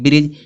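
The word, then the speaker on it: bridge: जिस आया डी आया तो डी क्या होगा साइलेंट होगा तो इसको पढ़ेंगे ब्रिज।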